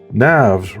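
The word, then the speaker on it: Knafs: NAVS rhymes with graphs and laughs."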